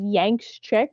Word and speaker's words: YanxChick: But yeah, my name on sort of essentially all social media is Yanks Chick, but it's spelled with X because it's edgy. It's YAN as in Nancy X.